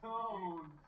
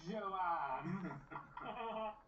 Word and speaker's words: Joan: Joan. It's pronounced Joan, not Joanne.